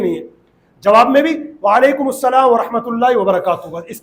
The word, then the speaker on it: وعلیکم السلام: تو واجب ادا ہوگا۔ سلام اور جواب سلام کا صحیح تلفظ یاد کر لیجئے، پہلے میں کہتا ہوں پھر آپ دہرائیں گے، کہیے السلام علیکم، اور صحیح جواب کا طریقہ ہے وعلیکم السلام۔ اللہ پاک ہم سب